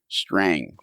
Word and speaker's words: Strang: And it's like it's ST with the word rang. Like your telephone rang. Strang.